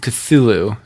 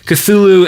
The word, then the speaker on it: Cthulhu: Mike Magnolia, if I'm saying that right, he actually did research into like, I pronounce it Cthulhu. I heard other people pronounce it differently, but Cthulhu and those old elder gods and all that.